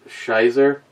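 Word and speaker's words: Scheiße: it's beautiful and kick here is a German lesson shall be equals pronounced shizer rosh be pronounced rock rock beer smoked beer I'm sure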